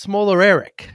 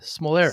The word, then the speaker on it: Smolarek: Jake, uh, uh, it's pronounced smaller Eric. Smalleric.